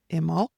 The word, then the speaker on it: Imbolc: So Imbolc is pronounced either, depending on whether there's a C or a G with it, it's pronounced Imol or Imullig.